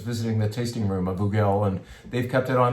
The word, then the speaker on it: Hugel: This is the Hugel, that's how you say it.